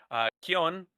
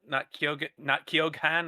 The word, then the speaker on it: Keoghan: I actually I learned how to pronounce his name, Keown, not Keoghan or something. It's a little Irish, but I could not